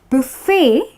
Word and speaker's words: buffet: Yes, it's Bu-fey, okay, with the T being silent.